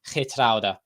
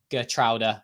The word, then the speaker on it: Geertruida: But yeah, so his name is pronounced Lutsharel Geertruida, and it might be really hard to pronounce it exactly right, but if you can say it like Geertruida, then you're pretty close.